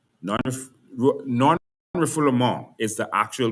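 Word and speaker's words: non-refoulement: All right non non reformul is the actual pronunciation. It's a French word, non-refle.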